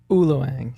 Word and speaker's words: ULOANG: In all fairness, it's a made-up word, so... What do you mean? So, it's based on my last name. I just switched the syllables and made up the word ULOANG.